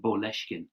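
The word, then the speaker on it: Boleskine: um which is uh boleshkin which sounds exactly like moleskine in english details will go up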